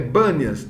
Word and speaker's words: Banias: Mas como no árabe não tem essa, acho que eles não pronunciam o P, então é Banias, era assim chamado da Cesareia, né?